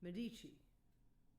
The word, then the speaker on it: Medici: Which one is the accent on? Is it Medici? Medici? Should I try? You said it perfectly. Medici.